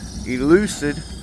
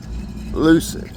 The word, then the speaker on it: Lucid: their motor and stuff this elucd I think that's how you pronounce it Lucid l u c i d not e Lucid why am I putting